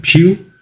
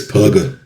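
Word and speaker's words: Pugh: Pew. It's P U G H. I'm saying it like Hugh like Hugh Jackman. Hugh Grant cuz I'm I don't think it's Puga. Uh so this will go on sale on February 18th.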